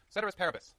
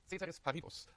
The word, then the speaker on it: ceteris paribus: I'll say it in Latin first. Ceteris paribus. I can say it in German Latin too. Ceteris paribus. However you want to pronounce it.